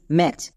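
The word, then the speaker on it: match: next এবার চলে আসো এখানে টি সিএইচ এখানে টি সাইলেন্ট থাকবে কারণ আমরা জানি শব্দের শেষে যদি টি সিএইচ থাকে তার জন্য শুধুমাত্র চো ইউজ করতে হয় এখানে টিটা সাইলেন্ট অটোমেটিক হয়ে যাবে তাহলে টি সিএইচ এর জন্য চো তাহলে এর উচ্চারণ কি হল এম এটি সি এইচ ম্যাচ তাহলে আমরা ছোট শব্দের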